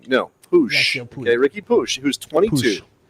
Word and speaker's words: Puig: a question about, and we're going with Ricky Push?